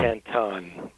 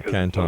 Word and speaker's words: Canton: ordained a Taoist monk in, how do you pronounce that? Well, you can just say Canton. Oh, Canton.